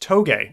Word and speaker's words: Touge: I actually queued that up to show people, and it's pronounced Toge. It's a form of racing. I've pronounced it Touge for the longest time as well.